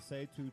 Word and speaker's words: Say Two: Great event, and also she out there with the Say Two tribe, rocking. Say two, not set. Am I saying it wrong?